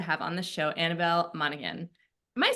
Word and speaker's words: Monaghan: on the show Annabelle Monahan am I saying your last name correctly it's it's Monahan the G is silent silent okay I was